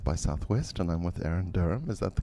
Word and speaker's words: Erin Derham: I'm reporting for Filmwax Radio from South by Southwest, and I'm with Erin Derham. Is that the correct pronunciation?